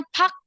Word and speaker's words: Park: Latinnya tuh gitu makanya Pak dibacanya eh tulisannya Park tapi dibacanya Pak gitu r-nya enggak kebaca terus apaagi ya tadi